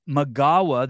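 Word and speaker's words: Migała: Gabby Magawa, the L is pronounced wuh.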